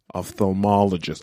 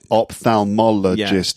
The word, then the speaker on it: ophthalmologist: you can be like oh ophthalmologist i don't know like yeah opthalmologist exactly five syllables and also one difficult